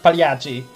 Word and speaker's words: Pagliacci: Puzzle Pagliacci. Am I saying that right? No. How do you say it? Pagliacci. Pagliacci.